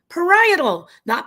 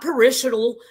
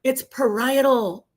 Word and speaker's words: parietal: Parietal. Not parishal, not perily, not parallel. It's parietal.